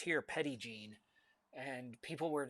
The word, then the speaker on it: Petit Jean: and then Jean, Jean, but it's pronounced here Petit Jean. and people were saying petty gene, and I'm like, what is this petty gene? I don't know what they're talking about. No, it's petty gene.